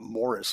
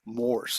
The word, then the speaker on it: Morse: profession with Morse and it it's one syllable that's one of the picky things I have some many people call it Morris like Morris the Cat but it's moris Mr rsse uh how